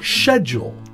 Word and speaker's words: schedule: Britain nope they say shedule schedule for Americans schedule for the British schedule so the British use a softt sh sound schedule and the Americans use a sound schedule that's right schedule for